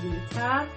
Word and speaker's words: Litha: Some pronounce it as Lita, and it's spelled Litha.